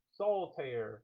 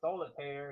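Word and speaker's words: Soltaire: Soul tear. Two words, two syllables. S O L T A I R E. Don't forget to use the promo code soul pair. It is not solitire. It's not that card game. Remove the eye.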